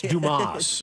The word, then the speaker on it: Dumas: It's Dumas. It's pronounced. It's French. It's Dumas.